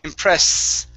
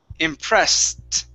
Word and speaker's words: impressed: Okay, now you're ending with an S, saying impress. All right, it needs a T at the end. S-t. Impressed.